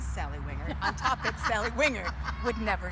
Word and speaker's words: Wingert: about acting as Sally Wingert on topics Sally Wingert would never say.